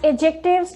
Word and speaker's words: adjectives: As I told you before, you will pronounce this word as adjectives because D is silent.